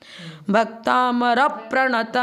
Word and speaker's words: भक्तामर प्रणत: का नियम है कि आगे डबल अक्षर हो तो उसके पूर्व वाले को दीर्घ मानते हैं, अर्थात उसके उच्चारण में 2 समय लगेगा। भक्तामर प्रणत मौली मणि प्रभाणा, मणि